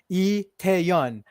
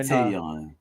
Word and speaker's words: Tae-Yeon: So my name is actually Tae-Yeon, but you know, Tae-Yeon. like in okay. Korean, last names come first, so it's Tae-Yeon.